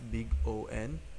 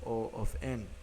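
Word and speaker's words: O(n): Since uh some pronounce this as big O N other calls it order of N. My personal preference however is O of N.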